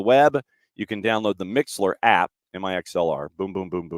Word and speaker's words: Mixlr: Or, he said, what you can also do is you can go to your phone and you can download the Mixler app.